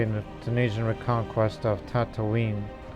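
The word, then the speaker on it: Tataouine: the tunisian reconquest of tatooine that's how you pronounce that much like that planet in star wars but still tripoli we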